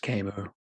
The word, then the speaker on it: Camus: It's by Albert Camus. Fiction is the lie through which we tell the truth. And that is something that I think holds true to almost every genre. It's pronounced Camo.